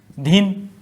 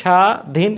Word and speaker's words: স্বাধীন: একইভাবে ব ফলার কি, শব্দের শুরুতে যদি ব ফলা যুক্ত থাকে তাহলে ব ফলার উচ্চারণ হয় না। উচ্চারণ নির্দেশ কি হচ্ছে, স স্বাধীন। এই থেমে যাচ্ছি, স্বাধীন, এইখানে সেদিন হর্ষচিহ্ন, এখানে